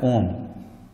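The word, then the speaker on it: ohm: एक यूनिट होता है जिसको कहा जाता है ओम, ओम प्रोनाउंस करते हैं, और उसका सिंबल जो है ऐसे इस तरह से होता है, ठीक है।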